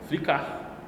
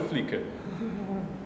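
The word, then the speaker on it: Flickr: Flick que é o a pronúncia do flicker que eu prefiro inclusive que é inclusive o que vocês vão usar bastante né fcar fcar eu não gosto eu prefiro flicker E aí esse é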